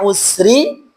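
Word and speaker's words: العسر: Sin pada kata usri dan sin pada kata yusra.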